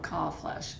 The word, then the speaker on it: Kalbfleisch: It is, and the B is silent. Okay. So, Kalbfleisch.